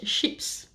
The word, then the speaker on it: chips: call it crisps and France we call it ships and we write it the same way than chips which can be really